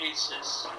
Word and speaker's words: Isis: is the tough one it is Isis or again it's Aces I'll go we'll go with Aces no I meant it's pronounced Aces I'm going to change